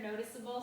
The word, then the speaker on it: noticeable: and then 18 noticeable keep that silent E notice that the E is still in noticeable here's why if you drop the e it becomes a hard C sound like the word applicable notice okay applic and then able if you drop this you have notic cble you want to keep the sound this sound right here noticeable so keep the silent